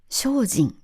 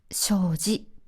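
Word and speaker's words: 精進: この感じは商人と読みます。でもこの湖の名前はこれで正ジと読みます。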